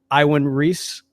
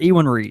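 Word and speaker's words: Iwan Ries: Iwan Reese. John. Wow. Briar. I have always called it Ewan Reese.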